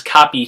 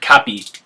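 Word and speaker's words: capī: the end there and replace that with a long I so panetta to put becomes Pony to get put and capita to catch becomes copy to get caught not capetti not polarity but just Pony and copies so we lose that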